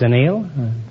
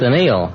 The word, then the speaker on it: anneal: Uh, we annealed it. I I beg your pardon. It's anal. It's It's anneal. I thought it was a television tool. No, it's an eal.